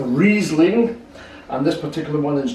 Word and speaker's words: Riesling: It's a Riesling, or as it's properly pronounced, a Riesling, and this particular one is German.